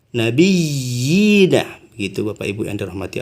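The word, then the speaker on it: النَّبِيِّينَ: Bacaannya ini bukan mad asli tapi disebut namanya mad tamkin. Kenapa? Karena terdapat 2 iya di sini ya. Nabiyina. Kalau di imam yang lain bacanya nabiina. Tapi di sini yang Imam Hafaz yang kita anut dalam pembacaan kita ini nabiyyina.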